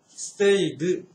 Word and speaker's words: stayed: はい、それから今度は、過去形の ED の発音です。stayed, talked, looked.